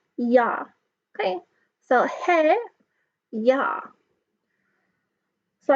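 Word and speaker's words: ja: hay or hay and ya all use is pronounced yah okay so hey yeah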